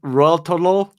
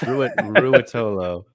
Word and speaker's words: Ruotolo: Is Cade what Raltolo? Is that how you say it? Raltolo? It sounds like the chocolate. Rolos. Ruotolo.